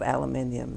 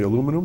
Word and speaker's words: aluminium: made out of aluminium now. Or we would say aluminum? Aluminum. Yes. Aluminum? I like that. I thought that was like a makeup word. Is that British?